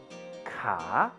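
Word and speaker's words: ขา: Ka, which means leg. Did you remember to pronounce the ka with a rising tone?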